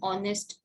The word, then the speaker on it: honest: yo and not an honest person h is silent a hotel a history